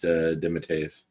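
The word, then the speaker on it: DeMatteis: Uh, it's pronounced Dimmitus. You told me it was Damatius. No, I said I pronounced it wrong my whole life. It's Dematus.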